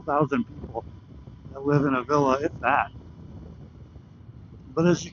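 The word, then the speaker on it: Avilla: A lot of people might say that's pronounced Aia, but we're in the Midwest. We are country hoosers, so we say it a villa.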